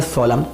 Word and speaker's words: solemn: तो फिर से इस तरह से हमने देखा कि एम के बाद एन आ रहा है तो एन क्या है, साइलेंट है, हमें एन को नहीं पढ़ना।